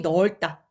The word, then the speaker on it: 넓다: 방이 넓다. 리을로 발음이 돼요.